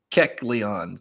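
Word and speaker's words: Keckleon: griffin mr griffin says just pronounce it like kek leon keck leon or just call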